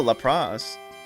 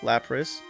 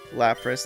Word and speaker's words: Lapras: Oh, LRA. Lapras. Lapras. Not LRA.